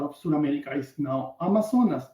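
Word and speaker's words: Amazonía: South America is now Amazonas. In English, pronounced Amazon. How we pronounce it in there is Amazonia, not any of the other two.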